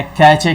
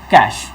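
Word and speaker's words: cache: कई बार जो है कैचे के नाम से भी लोग बोलते हैं ताकि स्पेलिंग्स में मिस्टेक ना हो सी ए सी एच कैच ए बोलने के लिए बट the real pronunciation is कैश कैश memory है ना तो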